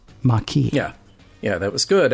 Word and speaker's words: Maquis: Well, no, they they sent a pronouncer with it. So, so Kira knew it was Maki.